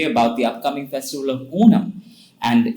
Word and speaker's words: Onam: I would say it is Onam. Okay. So I hope our listeners hear that there's a slight difference. It's not Onam, but Onam. Correct? Yes, that's the true Malayali way to say it.